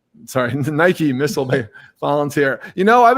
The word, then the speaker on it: Nike: guest welcome richard urschick veteran army sergeant and nikki sorry nike missile volunteer you know i've been getting that